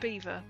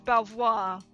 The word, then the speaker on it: Belvoir: Beaver. That's it. It's It's Beaver Castle. Right. This This will confuse. I'll put it I'll type it in. That is pronounced beaver. You think it's Belvoir?